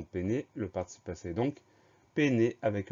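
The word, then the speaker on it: peiner: Le mot péné, première syllabe P, P-E-I. Donc le premier son E de péné s'écrit E-I. C'est assez rare, donc on pense bien à mettre E-I pour le son E.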